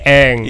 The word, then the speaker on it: Ang: Tulisannya Ang, dibacanya Eng.